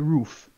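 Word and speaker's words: RUF: go in the try the roof oh the roof roof them as I'm told it's pronounced let's be sabrine here we go sabine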